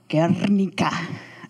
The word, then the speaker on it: Guernica: Anyway, it's got Picasso's Guernica, or I was told to pronounce it really well, Guernica.